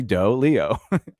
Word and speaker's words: doleo: the leo wrong but how does it spell dolio leo d-o-l-e-o it's literally doe leo anyway uh but um